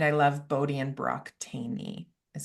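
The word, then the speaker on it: Thoene: and I love Bodie and Brock Taney, is how you say Oh, their I don't name. know them. It's spelled Thone. Might be a Yeah. British thing, I don't know, but it's pronounced Taney.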